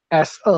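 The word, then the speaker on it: 四: Sekali lagi kalau 4 itu tidak pakai H, SE aja dengan nada yang agak ditekan. Se.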